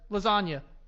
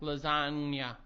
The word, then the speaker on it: lasagna: In the English language, there are silent letters. Lasagna. That's one of them. Technically not. Explain that. Lasagna. What did you think you pronounced just now? Lasagna. Again. Lasagna. Where's the G?